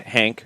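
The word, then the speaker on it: Genk: to your Celtic sounds like he is going to uh Hank or gank or Jen depending on how you want to pronounce it and which uh which variation in Belgium you want to follow reports in Belgium are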